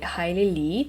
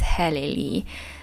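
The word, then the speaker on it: Helen Lee: life with rice by Hailey Lee Hi here's editing Julia with a very important message that of course I mispronounced the name of the author it's not highly It's heleni So yeah thank you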